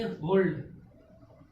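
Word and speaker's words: hold: ठीक, ये सब क्या है, एक्सेप्शन केस है, यानी कि अपवाद। इन सब में क्या है, एल का उच्चारण किया जा रहा है, एल का क्या है, प्रोनाउंसिएशन किया जा रहा है इस वर्ड में।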